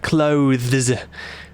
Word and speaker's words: clothes: Talking about the English word clothes. Pretty difficult to say that correctly, isn't it? It's a voiced th and then it's a it's a zed in in place of the e s. So clothes.